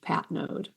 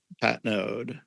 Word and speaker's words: Patnaude: common thing but yeah it's a French Canadian name so it's pronounced Pat node Pat node okay um so Ellen